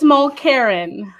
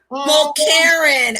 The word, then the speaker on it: Mulkerin: It's Mulkerin. Mulkerin. Oh, I was pronouncing all of the vowels.